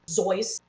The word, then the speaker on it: Seuss: Dr. Seuss's name is technically Dr. Zeus.